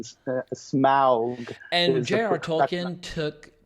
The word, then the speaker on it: Smaug: in those appendices it said that the combination of AU was supposed to be pronounced "ow" as it is in German. That was his intention. So "au" as in Smaug.